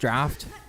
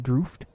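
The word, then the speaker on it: draught: Isn't it crazy that that's pronounced draft? What the were those British people thinking when they made that word, man? I'm assuming it's a British word, but like that's not draft.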